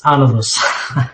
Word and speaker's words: Anodos: Am I correct this time around? Panos. Anodus. I got it right this time, I think. Yes, you're correct. Yeah, it's Anadus. Is it accent on the A? A accent on the A. That's right. Yes. On the first day.